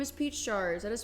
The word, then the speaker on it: PeachJars: down I'm ready good morning my name is pach chars that is spelled p e a c h j a